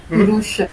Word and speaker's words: Kurush: The first is ku, the short ku. Adding an u to it will become long ku, ku. Then ru and u becomes ru, kuru. And this is sh, kurush.